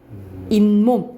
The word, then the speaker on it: 잇몸: 치 있는게이 몸이죠 우리가 근데이 몸이라 안 하지 뭐라고 발음해요 잇몸 그지 몸이라고 발음하지 그